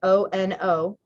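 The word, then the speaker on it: Onondaga: spelt i'm sure that is not how it's pronounced the next one is o-n-o-n-d-a-g-a onon daga and then the next one is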